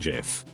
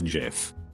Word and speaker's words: GIF: words long he went up and said it's pronounced jif najif double quote jod himself could come down and tell me that i wouldn't believe it it's jiff forever bye this will prob get buried but